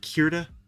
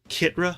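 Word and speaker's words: Krita: time see I'm learning I've learned that it's spelled with an R after before the eye what was it fall before like Kira kitra I was calling it kitra wasn't I what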